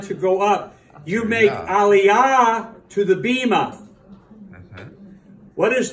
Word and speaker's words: aliyah: the things about syllables you don't make aliyah you make alia don't run everything together they're syllables so when you do